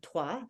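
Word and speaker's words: Troyes: drive north of um twah this which is spelled Troys um it's um they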